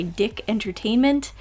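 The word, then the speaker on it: DIC Entertainment: The TV show was created by Dick Entertainment, yes, that's how it's pronounced according to Wikipedia, in 1987, and ran for about 20 episodes.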